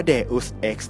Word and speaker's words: Deus Ex: กัน ก่อน เลย ครับ มัน อ่าน ว่า deus x นะ ครับ เดอส เนี่ย เป็น ลาติน แปล ว่า เทพเจ้า ครับ X ตัว นี้ นี่ หมาย ความ ว่า ออก มา จาก อย่าง My ex girlfriend แฟน เก่า xc อดีต